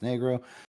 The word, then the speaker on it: negro: products to help children learn negro pronounced negro is the appropriate word for a spanish-speaking child would use for a for the color black we hope this is